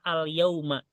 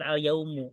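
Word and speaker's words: اليوم: An as baha maaka alyauma nah Saya ingin berenang bersamamu hari ini Nah itu alyauma ya bacanya bukan alyaumu alyauma Jadi kalau misalnya dijadikan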